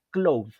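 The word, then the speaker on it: Claude: más privacidad se escribe No no es Cloud como de nub sino como Cloud como de Claudio en francés como Cloud ya Y esa es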